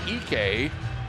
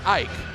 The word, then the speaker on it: Ek: per game and graham ek uh spelled like ike but it's ek ike it's ek bk let's go in